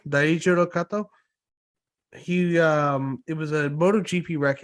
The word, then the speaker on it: Daijiro Kato: The death of let me pronounce his name right. Daijiro Kato, Daijiro Kato.